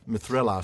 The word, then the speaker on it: Mithrelas: Mithrelas, am I pronouncing that right? Mithrelas? I think so, yeah. Mithrelas. Yeah, Mithrelas. I was kind of putting the emphasis on the wrong syllable again. Mithrelas.